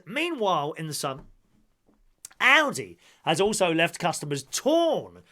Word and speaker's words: Aldi: According to the German retailer, it should be a short ow, such as with the word alloy. So, Audi.